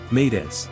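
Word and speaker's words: m'aidez: What is the French phrase for help me? Made pronounced medi.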